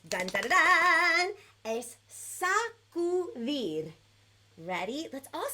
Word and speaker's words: sacudir: dun, dun, dun, es sacudir. Ready? Let's all say that together. On the count of 3, it's 3 syllables, so we're going to say it nice and slow.